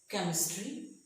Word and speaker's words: chemistry: is what why where we sometimes after a see whether H follows the see the H is silent for example chemistry mechanic school stock now sometimes